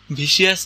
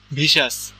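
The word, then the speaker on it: vicious: যেমন এই যে ওয়ার্ডটা এই ওয়ার্ডের স্পেলিং কি ভি আই সি আই ও ইউ এস R pronunciation ভিসিয়াস ভিসিয়াস না কিন্তু ভিসাস ভরেইসা তুমি যখন মুভি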